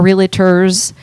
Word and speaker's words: Realtors: Zillow came out after our realtors was established, right? NAR was established. It's a 2-syllable word.